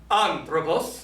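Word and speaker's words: ἄνθρωπος: So if we say our word here, and we put our acute accent right there, which is correct, we will pronounce it, everybody, anthropos. Anthropos.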